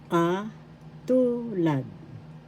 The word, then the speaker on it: katulad: Katulad. Katulad. That means similar. First syllable ka, second syllable tu, third syllable lad. The second syllable has the accent.